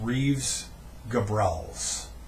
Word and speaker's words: Reeves Gabrels: of David Bowie inspired by sessions with guitarist Reeves Gabrels that's how you pronounce his name drummer hunt sales bassist Tony